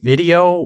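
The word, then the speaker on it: Vidyo: about this other uh it's called video but it's spelled like vid yo vid yo I think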